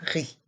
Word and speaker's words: riz: A ri. Dans le mot riz, le Z est muet.